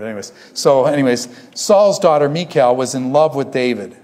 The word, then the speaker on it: Michal: Let's just, I just say Michal, like the Hebrew, Michal. They used to have a song, Michal, my bell. Anyways, someone heard it. Anyways, so anyways, Saul's daughter, Michal, was in love with David.